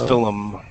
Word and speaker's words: film: We also do not like the combination L plus M. One solution is to pronounce the L as film. Anyway, Palm. but some palm, but some prefer adding a vowel in this word.